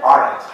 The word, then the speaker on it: Arendt: Roger has explained it as the Arendt Center? Arendt. Arendt. Yeah. Sort of like, isn't? Is that? No, aren't. Aren't, yeah.